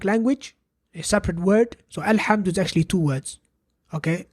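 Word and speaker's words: الحمد: Alhamdu, now we pronounced a vowel on top of the hamzatul wasl. And this vowel happens to be a fatha.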